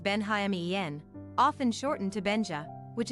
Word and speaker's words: Benjamin: kraski at just 18 years old Benjamin kraski pronounced benen often shortened to Benja which is pronounced Ben